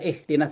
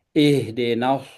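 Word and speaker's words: اهدنا: Ih ini saya tadi tekankan bahwa ini H berat bukan bukan jadi enggak bacanya bukan bukan pakai H biasa. Jadi bukan ihdinas tapi ihdenas nas ya.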